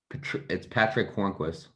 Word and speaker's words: Hornqvist: is how you say that uh uh it's hornqvist corn force all right so he also had